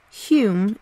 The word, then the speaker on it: Home: was baron douglas and his name was often pronounced and spelt hume in the style of that family when he